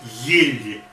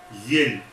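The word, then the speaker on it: ель: Like New Year tree, in Russian it is yel, yel. So first letter is ye, then L, and then soft, then the special sign, which is not a letter, which is not a sound.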